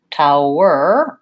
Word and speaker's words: tower: the beginning of class we still have the UH sound tower er I just have my tight back earth sound so tower versus towel towel versus